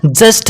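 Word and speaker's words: just: बच्चों जस्ट ठीक है तो ये जुत नहीं बल्कि क्या है जस्ट है और जस्ट का मतलब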